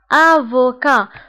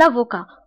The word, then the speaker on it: avocat: محامي un avocat. بالنسبة للأفوكات تكتب بالتي في آخر الكلمة ولكن لا تنطق. Un avocat.